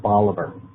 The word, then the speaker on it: Bolivar: with the pronunciation of the little town called Bolivar as v-o-l-i-v-a-r it's pronounced Bolivar um yeah any anyone's